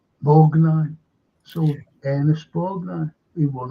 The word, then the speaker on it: Borgnine: And this lad, his name was Ernesto Bornini, but they just dropped the O and they just pronounced it, not Bornini, but Borgnine.